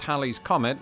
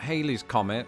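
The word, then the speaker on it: Halley's Comet: so did Lawrence Olivier Hal's Comet which is pronounced Hal's Comet and not Haley's Comet had been recorded numerous times since 240 BC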